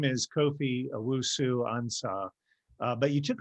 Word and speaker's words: Kofi: And it was, like you said, my name's Kofi, but back then everyone used to pronounce it like coffee, like the drink.